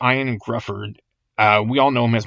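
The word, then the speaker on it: Ioan Gruffudd: And I believe pronounced Ian Grufford.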